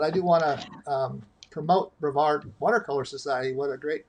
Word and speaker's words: Brevard: Brevard?